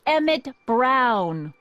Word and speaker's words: Emmett Brown: and it so happens that's emmett brown rhymes with clown which i'm beginning to